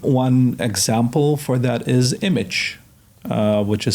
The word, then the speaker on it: Immich: One example for that is Image, which is spelled IMMICH.